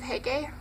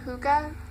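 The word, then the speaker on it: Hygge: Book of Hege, or Huga, or Huga. Don't really know how to pronounce that. Sorry if I butchered the name. It says, like, pronounced Huga by that, but I think it's more like Huga, anyways.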